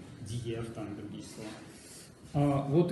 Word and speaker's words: diğer: Перед и Е она читается как Е, Диев, там другие слова.